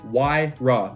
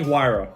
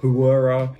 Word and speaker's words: Huayra: y ra the pagani wire that is how it's pronounced don't ask me why but that is how it's pronounced it's not pronounced hura hira huri no h silent it is a w it's wyrock next up